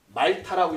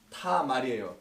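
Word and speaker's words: תמר: 말타라고 읽지 마시고 제가 이쪽으로 지금 쓰고 있습니다. 히브리서는 말타 아까 뭐 타줘 이러지 말고 타말이에요.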